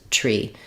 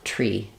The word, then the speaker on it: tree: you don't need it you can just use the aspirated T tree so making sure that there's release of air before your are tree the tree uh true